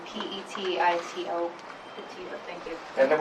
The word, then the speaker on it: Petito: Sure, it's Petito, P-E-T-I-T-O.